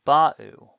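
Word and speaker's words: בָּאוּ: Then ba'u. Again, note that the stress is on the first syllable of a third common plural verb.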